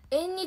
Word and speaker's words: 縁日: てやつとあとこれは何て読むよく緑地通り緑道通り何て読みますか絆さんとテイク作り花火ありがとう縁日って読むのすご純輝さん